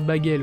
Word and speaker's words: Bagel: Ça se prononce Bagel.